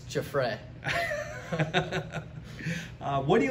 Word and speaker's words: Giuffre: What type of pronunciations do you get for it? Sometimes I get Giuffre, Jeffrey, stuff like that.